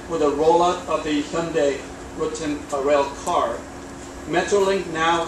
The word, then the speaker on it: Hyundai: Let's just do it together. Sunday, Monday, Hyundai. All right? Okay. It's Hyundai, pronounced Hyundai, not Hyundai.